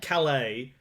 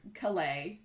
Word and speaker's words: Calais: Like maybe we have, here, specifically us, do Calais without pronouncing the S, but not everyone does.